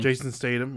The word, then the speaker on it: Jason Statham: Jason Statham. Is that how you say it, his name? Jason Statham.